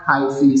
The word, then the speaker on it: hyphae: Hi-fi भी बोल सकते हैं इसको, हाइफी क्या बोलते हैं इसको, प्रोनाउंस हाइफी, ठीक है।